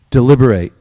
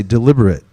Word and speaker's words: deliberate: has to deliberate is there's two words that are spelled the same but they're pronounced differently and they mean slightly different things so say deliberate now say deliberate it's spelled the same